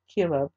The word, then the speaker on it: Chelub: And over those who did the work of the field for tilling the soil was Ezri, the son of Chelub, and that's spelled C-H-L-U-B.